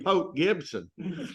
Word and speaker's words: Port Gibson: to excuse me Gord I'll have to tell you how to pronounce Port Gibson there's no R in pop Gibson oh okay got it